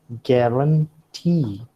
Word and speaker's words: guarantee: We also have guarantee. See, the accent does not usually fall upon the first syllable. It can also fall upon the last syllable, as you find here in guarantee and cigarette.